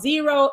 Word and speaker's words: Xero: small business platform it's an accounting platform called xero e is spelled x e r o they have the